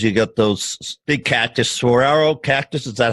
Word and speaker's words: saguaro: And that's really desert because you got those big cactus, saguaro cactus. Is that how you say it? Oh, yeah. Yeah, saguaro cactus, cholla.